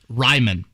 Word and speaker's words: Raimann: you know um bernard raymond is that he said so i i texted matt taylor last night for confirmation ryman okay that was why on the phonetic with that first syllable so bernard ryman